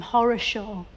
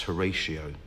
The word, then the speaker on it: Horatio: Why did his parents call him Horishaw? I think they probably intended it to be pronounced Horatio, but it just got mish mashed up and became Horaw.